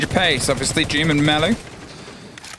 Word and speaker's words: Mellow: Obviously, Doom and Mellow. Pronounced like Nello, but for Mellow. So an M instead of an N, yeah?